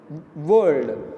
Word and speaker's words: whirled: World is different. R will not be pronounced here.